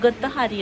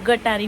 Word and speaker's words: गतहारी: दिवसाला गटारी अमावशाही म्हणतात खरं तर त्याचा मिनिंग प्रोनन्सिएशन गतहारी असतं पण आता त्याचा अपभ्रंश होऊन गटारी म्हटलं जातं बट ते खरं तर गतहारी असत म्हणजे आणि आज बऱ्यापैकी नॉनव्हेज